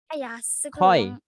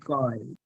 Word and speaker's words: coy: Tulisannya coy tapi bacanya. Oke, jangan malu-malu lah, nggak usah sungkan-sungkan. Don't be. Coy. Bacanya coy, bukan Koi.